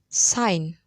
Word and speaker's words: sign: Note, the letter G is silent in some words, e.g., foreigner, sign, hike, bulk.